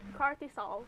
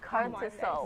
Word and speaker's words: cortisol: Cortisol. Cortisol. Biology. Wow. How do you spell that?